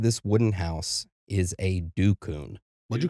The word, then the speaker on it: dukun: Inside this wooden house is a dukun. What'd you call me? So there's a lot of different ways they pronounce this. The most popular way is dukun, okay?